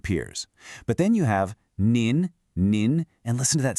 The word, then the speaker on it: 您: You have ni pronounced ni, which is informal, great for your friends and peers. But then you have nin nin, and listen to that subtle change in sound.